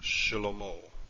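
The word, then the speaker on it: שְׁלֹמֹה: here we have a vocal shiva and it's pronounced shilomo but thirdly pronounced just barely take another biblical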